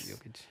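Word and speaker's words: Jokić: Jokic, is that how you pronounce his name? Yes. Jokic, yeah.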